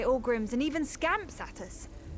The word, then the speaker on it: Ogrim: What this has taught me is that those words are pronounced Zivili, Orgrims, and even Scamps.